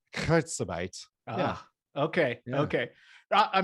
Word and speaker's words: Kurzarbeit: Am I pronouncing this right? Is it Kurzarbeit?